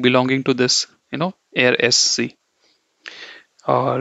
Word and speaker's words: er: will teach you that when R is at the end of a word you don't pronounce it okay you don't emphasize